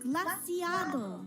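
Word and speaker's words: Glaseado: First of all, it's pronounced glaciado.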